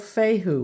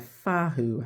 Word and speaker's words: Fehu: But anyways, with this one here, it's called Fehu, which is rune number 1. And it's pronounced like a Fahu, I think you can pronounce it.